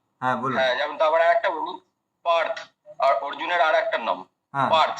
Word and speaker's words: পার্থ: হিসাবে সংস্কৃত গেলে পার্থ কিন্তু হিন্দিতে বলে পার্থ আর বাংলাতে বলি পার্থ মানে বাংলাতে এতটা ওকার লাগিয়ে দি আর হিন্দিতে কি করে অটাকে খেয়ে ফেলা হয় বুঝতে পেরেছেন মানে বাংলা হিন্দি দুটোতেই মুশকিল রয়েছে সংস্কৃততে গেলে পার্থ বুঝতে পেরেছেন ধন্যবাদ অভিজিত